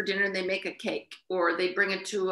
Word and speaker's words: cake: it's called cake well they spell it c-a-k-e and they call it cake and the cake was